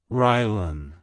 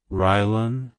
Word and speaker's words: Rylan: It's pronounced as Rylan. Rylan. Rylan. To pronounce it correctly, emphasize the ry sound at the beginning and the bun sound at the end. Keep the emphasis on the first syllable.